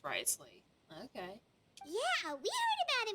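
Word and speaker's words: Wriothesley: personal dealings with the administrator of the Fortress Risley he's a very shrewd fellow so it is pronounced risely okay yeah we heard about him too he's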